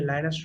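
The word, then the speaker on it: Linus: लिनक्स जो है लाइनस टोरवल्ड ने, जिसको आप लिनस टोरवल्ड कहो या लाइनस टोरवल्ड कहो, there are multiple pronunciation of इट्स his name.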